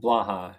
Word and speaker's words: Blaha: Uh, how do you say your last name, by the way? I should have It's asked you. Blaha. It's Blaha. phonetic.